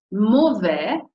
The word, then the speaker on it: mauvais: Il fait mauvais, attenzione a questa parola, oramai però, insomma, dopo 25 lezioni, 27 quante sono, lo sapete, A, U si legge O, A, I si legge E, S, silenziosa.